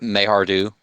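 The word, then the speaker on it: Maihar'du: Oh, meanwhile, we find Odo following uh, Mahardu. Pronounce it again for me, Pike, because I probably mispronounced it. Mayhardu.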